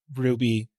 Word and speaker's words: RWBY: there's there's an anime called Ruby which is spelled w or sorry RWBY which is obviously how you spell ruby don't ask questions anyways